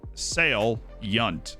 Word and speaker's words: salient: it wrong in my entire life it's Salient sale Yount is the pronunciation guide given y UNT Salient I mean